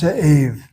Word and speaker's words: Zev: My name is Zave.